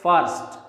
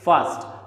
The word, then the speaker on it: first: इट is never spoken as फर्स्ट, इट इज फर्स्ट। R is always silent.